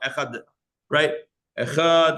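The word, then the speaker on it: אחד: No, Short- don't hurry the ches. Don't hurry. Oh, Meaning, hurry it. don't hurry it. In other words, that should also be, don't swallow it on the way to get to the dalid.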